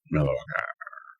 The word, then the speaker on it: Milwaukee: Hot-button issues sure to be highlighted at the upcoming Republican National Convention in Milwaukee. Milwaukee is how you pronounce that, Dems. Milwaukee.